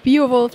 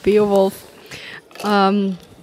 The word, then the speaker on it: Beowulf: Also es ist nicht der Biowolf, sondern Beowulf.